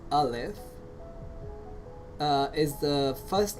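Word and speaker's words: ألف: origin LF means oh elif uh is pronounced as Olive uh is the first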